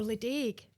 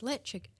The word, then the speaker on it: Ledaig: And he pointed it out and she said, "Or league." And he said, "No, it's le."